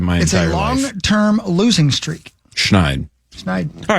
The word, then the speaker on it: Schneid: But it is Schneider. It's not snide. Schneider.